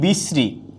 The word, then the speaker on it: বিশ্রী: সবসময় আসবে কি দন্তন্য, তাইলে হয়ে যাবে কি বিশ্রী, তাইলে হচ্ছে বিশ্রী। এখন আবার বলছি এখানে কখনো, এখানে দীর্ঘইকার আছে কিন্তু উচ্চারণে কখনো কি হবে না, দীর্ঘইকার হবে না, উচ্চারণে কখনো দীর্ঘইকার হবে না।